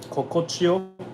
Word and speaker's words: Kokochiyo: Kokochio is like easy. K-O-K-O. Kokochio. K-O-K-O. Chio. C-A-C-H-I-Y-O.